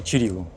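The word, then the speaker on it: Ћирилу: А это у нас памятник Кириллу и Мефодию. По-сербски Чирилу.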